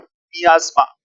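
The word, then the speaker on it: miasma: दूर तक फैली हुई बदबू जो है, दैट इज कॉल्ड मियाज्मा। उच्चारण क्या है बेटा? मियाज्मा।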